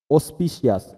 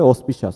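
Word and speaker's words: auspicious: অসপিশিয়াস, অসপিশাস, AUS, আস পি সি আই ও ইউএস, এটা উচ্চারণ হবে অসপিশাস, হ্যাঁ অনুকূল।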